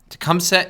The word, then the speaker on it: Tecumseh: able to count on was the first nations tecumseh i think is how you say it let's just see what siri says siri can you please pronounce this tecumseh tecumseh is the leader of the shawnee first nation